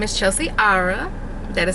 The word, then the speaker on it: Arrah: My name is Chelsea Ara. That is how you pronounce the R-R-A-H-H. It's not Ra, it's Ara.